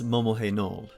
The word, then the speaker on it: Momohenold: You play as Priestess Momohenold. Yes, that's how you pronounce it.